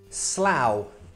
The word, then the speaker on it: Slough: If you're from Slough, you're not watching this. Slough's a boring place, it's fine. And with that same pronunciation, plough.